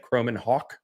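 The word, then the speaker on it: Kromenhoek: to say his name that's how you say it croman Hawk like ha a WK like the bird croman hawk um he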